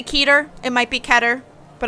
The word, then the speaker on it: Keter: It is pronounced Keter.